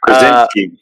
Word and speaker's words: Krasinski: I don't remember how to pronounce his last name. Anyway. Krasinski.